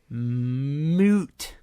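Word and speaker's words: muut: The second word is moot. Let me spell it for you.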